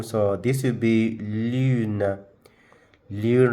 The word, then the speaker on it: lune: Lune, remember we said that words at the end of a word in French ending with the E is not pronounced. So this should be lune, not lune, no. Just lune.